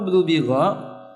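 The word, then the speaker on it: دُبِغَ: Mabniun lil majhul, dibacanya dengan cara didummah, di kasrah baru di fathah, itu artinya di.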